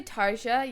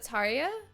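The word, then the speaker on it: Tarja: oh I know it's did I say Tarsha yeah I know it's Taria I don't know why I was saying it wrong um I would like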